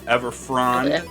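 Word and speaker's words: Everfrond: we got moss grit ever frond right it's frond yeah ever frond we got valiant how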